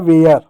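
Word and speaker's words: where: जैसे डब्लू का वो हो गया, ए आर ई है तो ए का उच्चारण करेंगे ए की मात्रा प्लस य, आर का र हो जाएगा वेयर।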